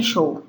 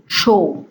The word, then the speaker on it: শো: তুমি ওখানে শো. You lie down over there. তুমি ওখানে শো. Again, pay attention to the way I am pronouncing show because I couldn't do justice with the spelling. তুমি ওখানে শো.